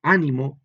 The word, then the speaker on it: ánimo: Vean que al principio, con mucho ánimo, en la A es donde se carga la fuerza, por eso lleva el acento.